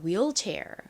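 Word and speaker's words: wheelchair: 휠 체어라고 하죠 한국식으로는 휠체어 그리고 실제 영어 발음으로는 휠이 아니라 will chair이라고 합니다 will chair 자체도 한번 적어 볼게요 저희 전에 배운 적이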